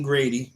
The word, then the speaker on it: Grady: Fauci's wife, Christine Grady, rhymes with Brady and Shady, is now spearheading research into the ethics of America's COVID-19 response.